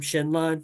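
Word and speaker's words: Xenlon: there was there was shenon you know Zenon shenon with an X um I've always said Zen Lon but they pronounce it shenon in the voice acting which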